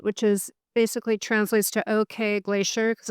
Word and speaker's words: Ok: is basically translates to okay glacier because it's spelled okay. Okay. So, it looks like the English word okay, but in Icelandic it's pronounced ok.